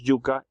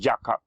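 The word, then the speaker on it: yuca: here in the americas the name is yuka even in english you put extra c mispronounced jakka but still yucca and in the caribbean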